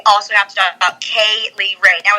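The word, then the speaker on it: Kay Lee Ray: But if we're going to talk about Viper, we also have to talk about Kaylee Ray. Now, it's spelled K-A-Y, and then it's L-E-E-R-A-Y. So it's three names.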